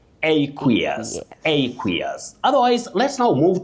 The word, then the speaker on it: aqueous: You say aqueous. Aqueous. Just like when you talk of aqueous lotion, not aquas, not aquas, not acquis.